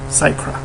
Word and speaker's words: Sycra: anyway what else people were wondering how to pronounce my name sacra that's how did I get into art and